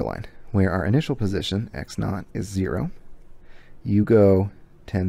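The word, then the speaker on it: x₀: final variable and which one is the initial x naught x zero that's the initial that's the starting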